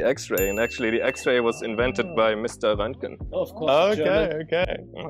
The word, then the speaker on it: Röntgen: You know, you got the umlaut really right. The Ö sound is exactly that. Röntgen.